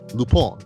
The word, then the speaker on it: Lupin: Okay, so moving on now, let's talk about Lupin, right? I have to remember to pronounce it that way because as normally we would say it as Lupin, right?